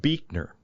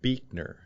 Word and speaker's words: Buechner: His name was Frederick Buechner. Frederick Buechner. And that's spelled Buechner.